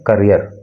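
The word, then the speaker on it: career: देखिए इसको कैरियर मत बोला कीजिए, कैरियर तो वो होता है जिस पर कोई सामान रख के ले जाया जाता है, लेकिन जो भविष्य की बात होती है तो उसको पढ़ते हैं करियर, उसका प्रोनाउंसिएशन करियर होता है।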